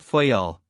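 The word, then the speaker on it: Fayal: Therefore, we steered for the nearest island of the group Fyel. The people there pronounced it fy and put the accent on the first syllable.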